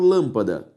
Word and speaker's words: lâmpada: própria oxítona se separou lâmpada lã pa da a sílaba tônica é a antepenúltima e por isso lâmpada possui o acento circunflexo tudo bem a segunda